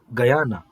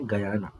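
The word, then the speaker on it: Guyana: ಇಲ್ಲಿ ನೋಡಿ ಮತ್ತೆ ಆಯ್ತು ಗಯಾನ ಇದು ಗುನ ಅಲ್ಲ ಗಯಾನ ಉಚ್ಚಾರಣೆ ಗಯಾನ ಜಾರ್ಜ್ ಟೌನ್ ಸೂರ್ಯನ ಒಂದು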